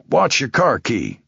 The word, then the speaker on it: Wojakowski: uh Wojakowski." "Pronounced like watch your car key.